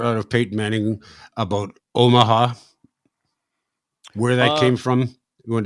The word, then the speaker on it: Omaha: Omaha, so it's three syllables, and I didn't know if you're calling an audible.